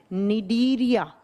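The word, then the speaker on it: Cnidaria: दूसरा फाइलम होता है निडीरिया। दूसरा होता है निडीरिया, सी से लिखा जाएगा, प्रोनाउंस किया जाता है एन से, निडीरिया फाइलम, निडीरिया संघ।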